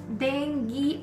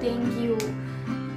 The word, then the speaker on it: dengue: It is pronounced as dengue and not DengYU.